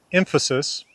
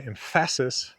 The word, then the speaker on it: emphasis: So, in the word emphasis, m is stressed and fu isn't. Emphasis. Uh, if we say empasis, we're stressing the wrong syllable.